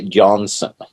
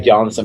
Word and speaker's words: Johansson: Okay, the Americans don't know how to say it. They say Johansson. Yeah. It's kind of like... Most people say Johnson. That's even worse than I was doing. Johansson, but that's fine.